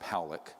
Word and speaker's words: Pollock: This man, William Pollock, his name is pronounced Powlick, was a man, very